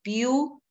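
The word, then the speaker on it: Pew: que en Estados Unidos que se llama el view research Center View se escribe p e w que ha generado mucha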